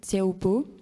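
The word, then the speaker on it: Teahupo'o: Il y en a une qui s'appelle Save Tiaopo. Donc, ça s'écrit SAVETEAHUP2O.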